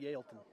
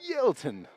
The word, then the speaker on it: Yaletown: And I believe it's pronounced Yaleton. That's how I say it. Am I saying it wrong? Yaleton.